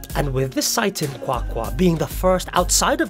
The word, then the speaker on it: QwaQwa: pronounce again again it's spelled qw-a why there's a click in the quack quack are they doing it